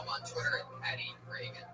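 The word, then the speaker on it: Regan: Not like Ronald Reagan. It's announced like Ronald Reagan, but there's no A in that. Follow him on Twitter at Patty Reagan.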